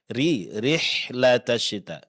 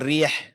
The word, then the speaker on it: رحلة الشتاء: Rihlatasyita. Bukan rih ya, tapi rihlatasyita. Vokal i-nya dipertahankan. Karena kalau dibaca rih seolah-olah di sini antara fathah dengan kasrah ya.